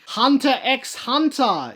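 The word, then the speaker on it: Hunter × Hunter: term goal of everything hunter x hunter is not a ship i believe the x is silent but it's still there and it's a great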